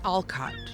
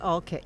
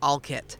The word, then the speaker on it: Olcott: Uh when I first came and introduced myself to you, you did not call it Alcott. You said I said Alit, which is the way the locals pronounce it.